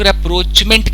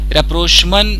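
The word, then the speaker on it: rapprochement: Actually इसको कई लोग रेप्रोचमेंट कहते हैं, अगर आप इसका प्रोनाउंसिएशन चेक करेंगे तो रेप्रोचमन करके बोलेंगे, तो अब जैसा लोग कहते हैं वैसे ही कर लेते हैं, रेप्रोचमेंट।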